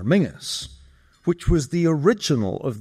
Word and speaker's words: Menzies: Menses in fact preferred his surname to be pronounced in the traditional Scottish manner Mingus which was the original of the nickname Ming the Merciless.